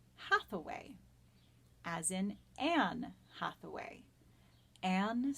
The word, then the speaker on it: Hathaway: hate away she threw hate away in the Elizabethan dialect would have sounded very similar to the pronunciation of the name Hathaway as in Anne Hathaway